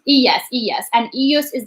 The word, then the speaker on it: ella: So yes, you hablo, ti hablas, él habla, ella, and for the two L is like pronounced yeah. So it's like ella habla, nosotros hablamos.